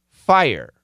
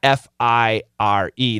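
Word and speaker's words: Fyre: The name of the restaurant is Fire, but the spelling is not F-I-R-E. The spelling is F-Y-R-E. Okay, but it's still, the pronunciation is Fire.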